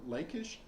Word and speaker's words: Lachish: Or the Elah Valley, the Guvrin Valley, or Lachish, or Lachish is how it's usually pronounced in English.